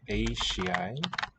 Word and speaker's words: eisiau: So du, e, eisiau. Palatalization of the S to a sh.